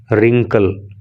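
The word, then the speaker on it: wrinkle: There is नॉट ए रिंकल, तो एक रिंकल भी नहीं होती। देखो डब्लू इसमें साइलेंट होता है, इसको रिंकल बोलते हैं।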